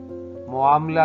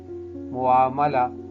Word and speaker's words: معاملہ: نہیں ہے، مشاہدہ ہے، معاملہ نہیں، معاملہ، میم پہ زبر ہے، اور اس طرح